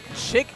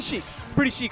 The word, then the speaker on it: Chic: Pretty chic overall, even though you pronounce it as Chic.